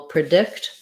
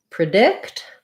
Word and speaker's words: predict: things in different words in predict the dict syllable is stressed and so it's going to be a schwa and they'll sound like